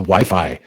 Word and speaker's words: Wi-Fi: and binds us yes the dogs know how to correctly pronounce wifi and don't just call like whiffy or something the magic powers of